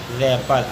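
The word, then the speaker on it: wrap: पढ़ेंगे रंग अगला है डब्लू आर ए डबल पई आर आर से पहले डब्लू आया हु इसलिए डब्लू साइलेंट इसको पढ़ेंगे र पर अगला है डब्लू आर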